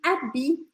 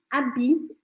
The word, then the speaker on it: habit: E habit, habit, sem a gente pronunciar esse T, apesar dele estar escrito, a gente não fala, que também significa roupa.